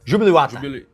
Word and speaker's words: Júbilo Iwata: E agora, voltando, né, para a nossa ordem cronológica, futebol japonês, Júbilo Iwata, como é que é a pronúncia correta? Júbilo Iwata.